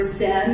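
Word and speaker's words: Chan: spontaneity of the artist um Chon or Zen as it's more commonly known in uh the United States and is the Japanese pronunciation is a form of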